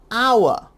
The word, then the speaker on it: hour: i o u or a vowel sound like hour because the h is silent but i'll get to